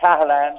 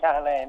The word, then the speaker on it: Cahalane: It's actually Cahalane, not Cahalane.